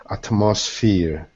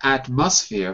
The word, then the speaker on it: atmosphere: good is fear also look what the stresses the mark is on the app at atmosphere not atmosphere but atmosphere atmosphere right first syllable first syllable um okay let's finish